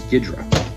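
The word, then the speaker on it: Ghidorah: So there's Ghidra, that's how it's pronounced.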